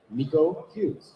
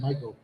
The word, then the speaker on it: Miko Hughes: case you don't know who this is, it's Miko Hughes. Yes, sir. Did I pronounce it right? Yes, you did. Yeah. Wow. No, you nailed it. Good thing you said, because I was going to say Michael.